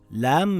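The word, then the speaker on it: ل: Lam makes a similar sound in English to the letter L in the word lion or the word lamp.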